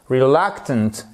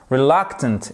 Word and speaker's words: reluctant: En anglais, elle est, attention à la prononciation, reluctant, reluctant, exactly.